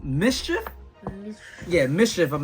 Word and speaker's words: MSCHF: you can see so I think this is pronounced Mischief yeah Mission if I'm